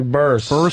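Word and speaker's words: Burress: How do you say Barras? Yeah, Burris.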